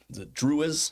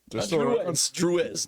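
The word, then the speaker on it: Druze: They went south with the Druids. I keep saying it wrong. Yeah. The Druids? Druiz. D-R-U-Z-E. So making a comeback?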